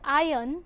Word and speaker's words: iron: In the word iron, the letter R is silent.